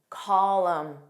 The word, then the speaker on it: column: This is common with MN spelling, but not a general rule, just a pattern. Autumn. So when it ends on your M. Autumn, column, solemn, condemn, him, damn.